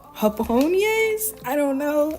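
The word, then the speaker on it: japonés: But I believe these are called hapon. I don't know. I know the J in Spanish is pronounced um like H in the English language.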